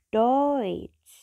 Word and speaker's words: Deutsch: Nah, yang kedua adalah jika E ketemu U, maka dibacanya adalah OI. Contohnya adalah Deutsch. D-U-T-S-C-H, bacanya DOI-T-S-C-H. Deutsch. Deutsch. Ingat ya, bukan Deutsch, tapi Deutsch.